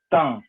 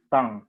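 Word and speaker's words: thym: Et tomillo se prononce tan, c'est nasal, comme matin, tan.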